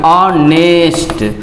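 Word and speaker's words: honest: ऑनेस्ट, और ऑनेस्ट अ है, तो इसके लिए क्या लगाएंगे?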